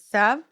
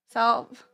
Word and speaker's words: salve: I've heard it pronounced Sav. So I was like, am I wrong? No, they No, are. that person's wrong. Okay. Mhm. There's definitely an L in there.